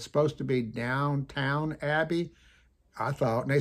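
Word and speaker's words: Downton Abbey: ought to look at it because I wasn't pronouncing it right. It's supposed to be Downtown Abbey, I thought. And they said, no, it's Doubtin Abbie.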